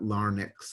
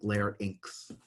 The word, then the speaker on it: larynx: sure you don't get that confused it's not Larne X it's like larynx drawn a bad version of it so first